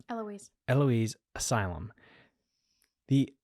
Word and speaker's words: Eloise: kid you not Eloise Eloise Asylum the it really doesn't look like it should be pronounced Eloise to be honest with